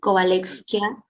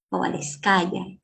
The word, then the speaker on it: Kovalevskaya: a Mujer Matemática, Sofía, si que no lo pronuncio mal, Kovalevskia, ¿no? Por la Fundación Kovalevskaya. Kovalevskaya, gracias, por las mujeres peruanas en ciencias matemáticas.